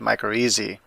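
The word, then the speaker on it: mycorrhizae: like it's not said micro easy well it is that's the Latin pronunciation and that's adopted in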